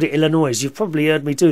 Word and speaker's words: Illinois: oh I've been corrected Illinois the S is silent I've always called it Illinois you've probably heard me